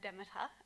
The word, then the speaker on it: Demeter: yes it is pronounced Demeter although this does depend on which dialect of Greek that you're speaking so thanks to Demeter